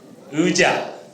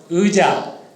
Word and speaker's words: 의자: 의자. 의자. 잘 기억해 두세요. 그 다음에 자의. 자, 똑같이 의 플러스 이가 붙었죠. 앞에 올 때는 어떻게 발음이 되는가요? 의죠, 의. 그리고 뒤로 가면 어떻게 되나요? 이가 되죠.